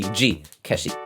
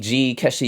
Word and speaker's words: ZI KESHI: It's called the zi-keshi, or probably in Japanese it's pronounced as the zi-keshi.